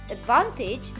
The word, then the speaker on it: advantage: So we say advantage, but we say disadvantage. This takes a secondary stress. So as to avoid having two weak syllables before the main stress.